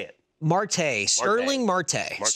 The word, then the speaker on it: Starling Marte: Marte. Sterling Marte. Starling Marte.